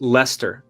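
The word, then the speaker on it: Leicester: of the city right it's pronounced Lester oh I'm so sorry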